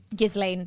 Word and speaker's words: Ghislaine: Maxwell who, it might be Ghislaine Maxwell's father, I don't know, but he died in like the 90s or something.